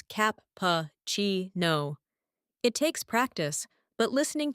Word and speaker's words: cappuccino: For espresso, it's S press O, and cappuccino is cap-pa-chi-no.